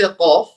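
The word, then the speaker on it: قاف: How do you say qaf? When we put the extreme back of the tongue, extreme as far as you can. You know the uvula, the little piece of the flesh or the tongue.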